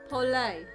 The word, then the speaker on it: Poulet: Poulet is how you pronounce it. It's French for chick.